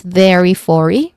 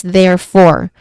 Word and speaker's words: therefore: So there's a silent letter in the middle as well as in the end. So we do not say it as therefore.